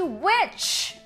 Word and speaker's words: which: Agora vamos falar de which. Which, que tem a mesma pronúncia de bruxa, mas a escrita é diferente, tá?